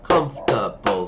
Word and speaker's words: comfortable: No, it's comfortable. Three syllables.